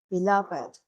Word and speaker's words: beloved: Compare it with this: Here, beloved is an adjective. The "-ed" is pronounced as /ɪd/.